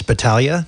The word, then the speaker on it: Battaglia: It's Battaglia. Battaglia. That's actually very easy. Yeah, you just don't pronounce the G.